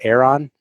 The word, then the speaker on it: Aeron: Beverly Hills Chairs, the leading seller of refurbished Herman Miller, I can't pronounce the word, Aeron.